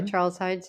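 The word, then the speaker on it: Charles Heidsieck: Thanks in part, I suppose, to this colorful figure of Charles Hides. Is that how you would pronounce that? That's right. Yeah, Charles Hides.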